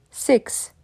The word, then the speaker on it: six: pas F mais five six six le i court en anglais c'est un mi-chemin entre un I et un e Six Seven seven e